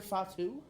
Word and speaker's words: Fatu: Jordan it's a junior Fatu it is Junior font too yeah it's not spelled like that but correct way is it it's Fatu yeah Hunter not a